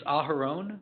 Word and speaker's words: Aharon: It's Aharon, which is spelled AHA R O N.